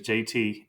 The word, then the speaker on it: Jaeti: to find me is just Google JT and it's spelled j a e TI that's J AE TI my name is JT and you can Google